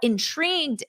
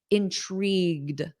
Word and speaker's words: intrigued: which is unconjugated now intrigued is our adjective repeat after me intrigued Ed intrigued notice that soft D at the end intrigued now this means